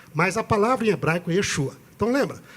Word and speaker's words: Yeshua: Deus a salvação Jesus a palavra Jesus em hebraico é Yeshua e esse é o